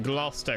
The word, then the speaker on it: Gloucester: Kudos for pronouncing Gloucester correctly. You know, 99% of Americans don't know how to say that.